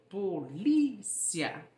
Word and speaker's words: polícia: No português, a sílaba tônica é o li, polícia. Já no espanhol, existe a mesma palavra, mas ela é pronunciada como policía.